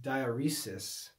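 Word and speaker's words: diaeresis: but should not be diuresis i think in english it's pronounced dioresis okay you can check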